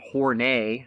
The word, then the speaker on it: Horney: they had a very very historic falling-out Karen horney that's how you'd pronounce her last name she also was a